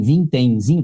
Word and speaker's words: vintenzinho: A mesma coisa aqui, ó, na palavra vintém, o tem é tônico, mas em vintemzinho, tá vendo? Vintemzinho, tá vendo? Ela é paroxítona, porque o zi é mais forte, mas ela tem uma sílaba subtônica que a gente chama.